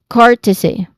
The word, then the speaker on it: courtesy: So the primary stress here is on the first syllable. So you basically it basically say it as courtesy again courtesy.